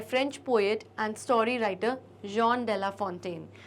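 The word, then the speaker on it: Jean de La Fontaine: French poet है और वहां पर इन तरीके के वर्ड्स का और नामों का प्रोनंसिएशन होता है जॉन डेला फोंटेन ओके तो आप भी इसी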